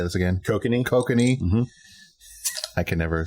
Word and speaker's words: Kokanee: Kokanee.